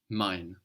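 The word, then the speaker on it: mein: M before that in mine mine mine so mine means my so I is spelled EI i n we know this EI gives us the I sound and mine is spelled m e i n how would you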